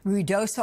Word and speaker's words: Ruidoso: But you represent the town of Ruidoso, I believe is how you say it, that's been battered by the flash floods this week.